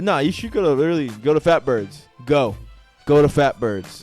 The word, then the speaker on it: PHATBIRDS: It is spelled PHATBIRDS. It is called Fatbirds.